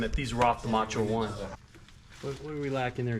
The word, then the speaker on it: Macho 1: Pronounced Macho One. That's at least how the announcers used to say it.